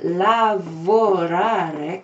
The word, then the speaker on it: lavorare: But lavorare così, lavorare with four syllables, that means to work.